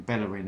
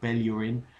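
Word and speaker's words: Bellerín: even with Hector Bellin I'm not calling him bellerin anymore Bellin uh because that seems to be the correct way of pronouncing his name well anyway he was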